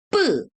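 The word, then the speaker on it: ㅃ: Ini bacanya 뿌 gitu.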